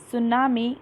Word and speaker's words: tsunami: The name of the chapter is Tsunami, the Night of the Killer Waves. Tsunami. T is silent here and we pronounce it tsunami.